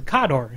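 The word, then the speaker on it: Khador: way language how how how kador is actually supposed to be pronounced ounc in the Russian accent is is kodor I can I can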